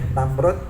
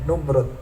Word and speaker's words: Namrud: Jadi boleh Namrud, boleh Numrud bacanya.